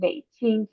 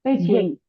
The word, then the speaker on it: Beijing: have a tone because English do not have a tone. We just have a stress. So Beijing, Beijing. Beijing.